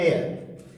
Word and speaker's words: heir: Generally इसको लोग हेयर पढ़ लेते हैं, लेकिन इसका उच्चारण होता है एयर।